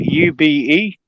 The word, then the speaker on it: Ube: Yeah, I think it's spelled UBE.